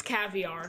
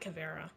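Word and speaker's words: Caveira: Chi Rai is American so that's how it's pronounced Calvary no it's it's caviar not cavero someone after fish eggs she's expensive Habana no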